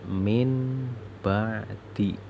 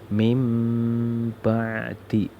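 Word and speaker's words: مِنْ بَعْدِ: Ini tulisannya min ba'di, min ba'di, tapi bacanya gimana? Bacanya harus mim ba'di, mim ba'di. Nah, nun sukunnya itu diganti dengan mim.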